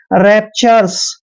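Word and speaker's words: rapturous: हम र पढ़ते हैं ओ यू यहां पर साइलेंट रहेगा और एस को स लिखेंगे रैपचर्स क्या पढ़ेंगे इसको रैपचर्स रैपचर्स मींस होता है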